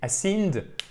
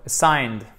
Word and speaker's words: assigned: prononcez mal parce que si vous dites ascend, là, c'est juste incompréhensible. Assigner, donner, OK? Là, par exemple, pour des homework. Vous vous souvenez que les homework, ça prend jamais de S. Ça, c'est les devoirs. C'est un nom collectif, il est sans S. OK? Donc, assigned. Yes. Assigned. Assigned. Parfait. Alors, Awesome. petit E atténué, assigned. Et après, boum, ça remonte sur l'accent tonique.